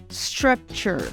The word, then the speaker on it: structure: Nós falamos structure. Lembre de fazer esse som do R do interior quando você for falar structure.